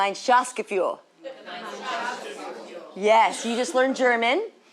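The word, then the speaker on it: Gemeinschaftsgefühl: to memorize it you definitely don't have to spell it but let's just say it together one time follow me G mine Shas fuel Shas fuel yes you just learned German and it's a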